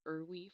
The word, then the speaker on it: IRWE: If your child receives Social Security benefits, a work incentive called Impairment Related Work Expense, pronounced IRWE for short, might be an option to cover transportation costs.